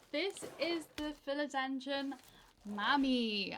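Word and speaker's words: Mamei: is the fil engine Mommy I think that's how you say it m a m EI I mommy mommy mom e i mommy ey mommy ey this is why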